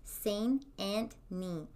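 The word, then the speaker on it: St. Anthony: meadows it's near a town called saint anthony pronounced seine and me by the locals the mounds are covered in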